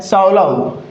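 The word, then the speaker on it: solo: ये क्या है, साउलाउ। क्या है साथियों इसका करेक्ट प्रोनाउंसिएशन, साउलाउ।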